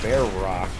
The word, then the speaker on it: Verac: a YouTube channel called bear Rock and that's why everyone subscribed it's cuz there's a k sound at the end of